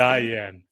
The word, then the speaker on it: Diann: yeah beautiful beautiful so is your name pronounced Diane or Dian Diane thank you for asking Diane very confusing yeah I